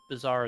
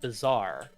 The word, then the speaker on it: bazaar: this by my husband i always pronounced it the bizarre that's how i pronounce it as a bizarre sorry i sorry now i i've been trained to say it right i said the bazaar